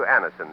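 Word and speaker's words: Anacin: Thousands of people have been introduced to Anison this way. Try Anison yourself the next time you suffer from the pains of a headache, neuritis, or neuralgia.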